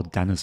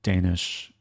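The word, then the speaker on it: Dénes: there's a Grandmaster who I usually call Dennis boros he's Hungarian so I think his name is pronounced Danish boros friendly person sometimes Pops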